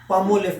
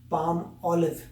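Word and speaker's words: Palmolive: और जो था इन रियलिटी जो इसकी प्रोनाउंसिएशन है पाम ऑलिव, क्योंकि एक तरफ पाम है और एक ऑलिव है।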